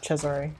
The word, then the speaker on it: Cesare: Is it Caesar? Is that how you say it? No, Cesare.